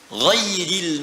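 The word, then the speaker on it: غيرِ: Qara al-jumhuru ghairi bil jar. Mayoritas ahli qiraat membacanya menggunakan kasrah, ghairi, i.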